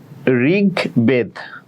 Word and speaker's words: ঋগ্বেদ: তাইলে ঋগ্বেদ, গ হসন্ত, কারণ গ এর সাথে অ এর উচ্চারণ হচ্ছে না। ঋগ বেদ, ব আছে, ব চিহ্ন আমি তোমাদেরকে বলেছিলাম যে কোনো শব্দের আগে চিহ্ন দেখলেও এটার উচ্চারণ হয় অ্যাকচুয়ালি পরে, ওই জন্য একারটা পরে, ওই জন্য এই ব বর্ণের সাথে মানে পরের বর্ণের সাথে বয়কার দ, ঋগ বেদ বলি না, ঋগ বেদ, শেষে যেহেতু অ এর উচ্চারণ হবে না ওই জন্য হসন্ত, দ এর সাথে হসন্ত।